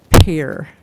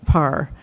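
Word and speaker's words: Pare: a better word from Pair par it you p a r e should be pair just so you know okay so that's so par even though it's spelled p a okay so um what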